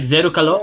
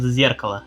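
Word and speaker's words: Зеркало: Like Zerukalo, yeah, Zerukalo, something like this, is pronounced in she Japanese, but in Russian it's Zerkala, mirror. isn't she like very popular in like Russian side of the fandom?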